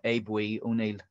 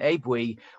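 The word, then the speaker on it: Aodh Buidhe: descendant of this man abe we i'm told that's the irish pronunciation abe we was the was one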